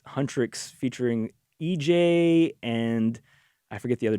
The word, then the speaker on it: HUNTR/X: I think it's pronounced Huntrix, but it's spelled Hunter, HUNTR/X. Okay.